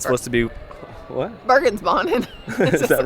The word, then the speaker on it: Bergensbanen: Bergensbanen.